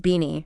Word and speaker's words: BINI: yeah I mean even their name dni right pronounced beanie it's so playful so